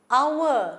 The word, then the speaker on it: hour: Hour, we don't say hour, we say only hour. So it is a vowel sound, isn't it?